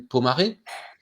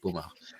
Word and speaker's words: Pomaré: Et ce fauteuil Pomaré, on l'appelle maintenant le fauteuil Emmanuel ou le fauteuil Pomard, parce qu'on prononce très mal le mot Pomaré. Donc les antiquaires en France l'appellent fauteuil Pomard.